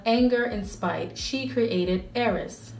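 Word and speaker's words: Ares: So out of anger and spite, she created Eris. And that's how it's pronounced, I think it's pronounced Greek-wise, even though we say Aries.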